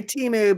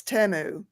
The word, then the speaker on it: Temu: say it temu yeah I used to say Teemu but when I saw the commercial for it it's temu oh see I called it teu yeah I did to temu teu what is it